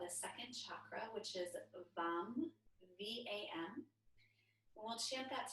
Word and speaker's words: Vam: And we'll start our practice tonight using the seed syllable of the second chakra, which is VAM, V-A-M.